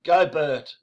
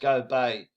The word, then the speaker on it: Gobert: called uh how do i say it rooney gobert but actually it's pronounced go bay there he is the frenchman and the reason